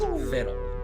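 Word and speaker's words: Victual: It's the hideous viddle. And yes, despite how that word is spelled, it is pronounced viddle.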